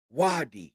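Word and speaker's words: Ouadai: o vaadi for wiy and that's spelled o u a d a i Wy is how that's pronounced the wi Market is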